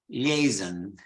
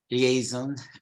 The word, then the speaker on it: liaison: So in British English, it's liaison. While in American English, they follow more the French pronunciation.